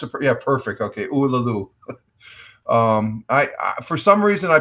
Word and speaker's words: Uluru: I pronounced it. Yeah, perfect. Okay, Uluru.